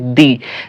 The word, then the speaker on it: the: এই ভাওয়েলগুলো যদি কোনো ওয়ার্ডের সামনে থাকে তাহলে তার সামনে THE যেটা হবে সেটার উচ্চারণ কি হবে? সেটার উচ্চারণ হবে দি।